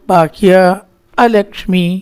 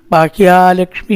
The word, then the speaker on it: ബാഹ്യ അലക്ഷ്മി: കൂടി എത്തിയതിൽ ആ നീട്ടലിന ബാഹ്യ അലക്ഷ്മി എന്ന് തന്നെ പറയണം ബാഹ്യ ലക്ഷ്മി എന്ന് പറഞ്ഞാൽ ലക്ഷ്മി ആകും പുറത്തേക്ക് പോകണ്ടത് അപ്പോ ഓരോരു ഉച്ചാരണത്തിലും അതിന്റെതായിട്ടുള്ള